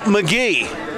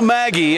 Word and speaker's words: Magie: thank you very much tonight McGee not Maggie as we have butchered